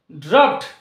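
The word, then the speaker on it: draught: এখানে ডি আর এ ইউ জি এইচ টি ড্রাফট এই যে শব্দটি রয়েছে যার বাংলা মানে হচ্ছে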